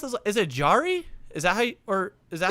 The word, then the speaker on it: Jarry: well actually i know what how do you pronounce this is it jari is that or is that yeah sorry tristan jarry jarry is a dumpster fire i was gonna